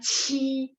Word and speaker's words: qi: Tadi kan saya baru baca, misalnya QI bacanya ci, ada angin.